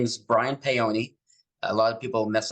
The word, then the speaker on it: Paone: it's the E is the E is said at the end so it's p-a-o-n-e it's payone e um and my